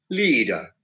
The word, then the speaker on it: leader: Now in the word like leader, because there's a long sound, long E sound, E, that stress is put on the word, on the syllable, la. So it becomes leader or machine.